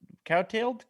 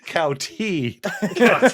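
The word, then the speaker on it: kowtow: Now you're not compelled to do everything he says, but you are cowtoed. Cowtailed? Cowtoed? It's No idea. pronounced. It's pronounced Cowtee.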